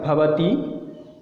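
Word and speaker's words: भवति: तो इसका प्रनाउंस होगा पहला का भवती और इसका होगा भवती, थोड़ा इसका प्रनाउंस दीर्घ होगा।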